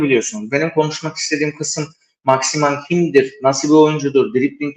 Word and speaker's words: Saint-Maximin: Aydın'dan hızlıca bir de maximan geçeyim yani Maxi yazdırmış formasına Maxi diyen var Maxima doğru okunuşu Maxima da diyebilirsiniz Maxi diyelim ya da ben maximan demeyi seviyorum makim diyelim